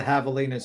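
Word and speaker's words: javelinas: Maybe that's why the Havalas are scared. They see the colors and they think it's like a predator nearby. Yes. And uh they're havalas, but the J is silent.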